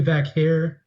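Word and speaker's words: Vaquer: Stephanie Vakair.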